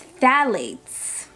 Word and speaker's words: phthalates: It says here it has no parabens, no sulfates, no phthalates.